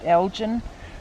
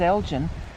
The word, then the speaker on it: Elgin: know several towns spelled e-l-g-i-n and some call it elgin the one in oklahoma's elgin the one in texas is elgin yeah you never know